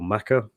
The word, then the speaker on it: Mecca: Is it pronounced Mecca or Makkah? Is it? I always assumed it was Mecca, but is there a different way of pronouncing that? It's different in Arabic? Are both correct. They're both correct.